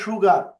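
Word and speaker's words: sugar: যেমন সুগার উচ্চারণ হবে কি সুগার, sh সুগার হবে সুগা অনেকে সুগার বলে না সুগার ইটস সুগা সুগার সুগা সুগার রাইট অফ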